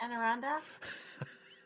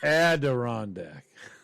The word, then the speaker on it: Adirondack: that what they're called there's a d in there did they say that no you went you said anne arundel add adirondack a.d you just we don't need